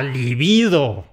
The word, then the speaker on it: libido: ¡La liBIdo! Es palabra llana.